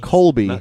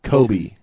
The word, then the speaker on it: Kobe: the nose I'm serious it's not Colby Colby Kobe KOB not the basketball player yeah spelled the same